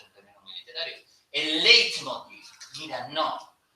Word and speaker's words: leitmotiv: término muy literario, el leitmotiv. Mira, no. O lo dices bien o no lo dices. Es leitmotiv. Pues es una palabra alemana. Y en alemán EI se lee AI.